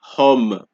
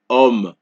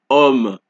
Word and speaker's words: homme: So, the H in French is silent.